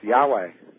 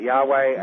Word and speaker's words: Yahweh: Of course, Yahweh. That you're pronouncing incorrectly.